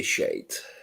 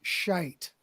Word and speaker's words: shite: but we're going with that's total shiite or is it shite how do you pronounce it well we'd say shade um okay we'll go with the proper pronunciation shite which is what i